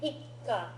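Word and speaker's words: 一課: Make sure you're pronouncing it ikka with a pause there. It's Because not of the- ikka, it's ikka Because that soup. because of the small tsu.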